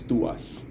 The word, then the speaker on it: TWS: that I'm talking about is twws or it's pronounced as to us now the reason I